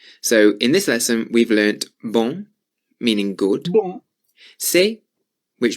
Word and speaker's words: bon: So normally the word bon is pronounced with a nasal sound on the end. Bon. As I said, if you say the word bong and take the G off, that's how you say bon.